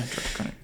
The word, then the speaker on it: Krennic: Yeah, Krennic.